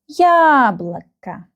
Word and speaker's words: яблоко: The first syllable is stressed. Яблоко. Яблоко. We remember the rule that these two O, they are not stressed and we pronounce them like A. Яблоко.